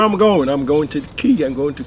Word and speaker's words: Caye: I'm going to Caye. I'm going to Caye Caulker.